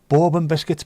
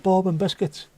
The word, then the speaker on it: bourbon biscuit: Bourbon biscuits, Barsi, bourbon biscuits. Bourbon biscuits is also a thing that me and Jess have in common. Which, it's not pronounced bourbon biscuit though, it's bourbon biscuit.